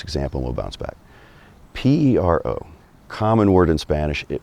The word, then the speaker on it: pero: That R in the middle of the word is more just like a T, like a tap on the on the roof of your mouth. That's it. Um it could be T. Some people say more like D.